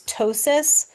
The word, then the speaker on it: ptosis: we refer to as ptosis. So the P is silent.